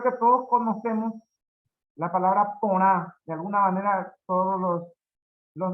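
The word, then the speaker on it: porã: aquí conocemos la palabra poná, ¿no? Que es algo bueno, algo lindo. Ahí para el doctor Fidel Camacho, esa gente explico, ¿no? Poná, con nasal, se pronuncia la última letra nasal, significa lindo.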